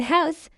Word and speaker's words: house: In house, the H is strongly aspirated.